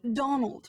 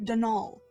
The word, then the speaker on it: Donal: that was the caretaker Donal Delaney not Donald my mind you there's no D at the end so it's pronounced denol that's the way you're